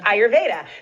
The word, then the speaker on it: Ayurveda: Ayurveda? Ayurveda.